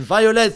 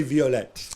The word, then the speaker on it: Violette: Is it pronounced Violette? I'm assuming they speak French in Haiti. Yeah. I mean, I said you should say Violette, really, but I thought I'd put a little English spin on it.